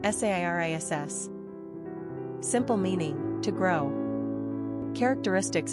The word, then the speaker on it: Ceres: Pronunciation, Sairis.